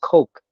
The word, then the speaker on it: Coke: And it's like, well, wait a minute, it's not cock, it's Coke. Coke and cock is Oh, two different things. So okay. you don't want to say that. It's the wrong pronunciation.